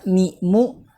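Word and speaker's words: ميم: Nah, cara menulis huruf mim itu adalah yang pertama mim, kasroh, mi itu ya, kemudian ya, kemudian huruf mim yang bertanda sukun, ya. Mim dibacanya seperti itu.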